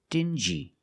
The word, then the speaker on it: dingy: These two words have the regular N sound, N, plus the J, like juice. Together, stin-G. Together, stingy. Or din-G. Together, dingy. This wall is very dingy.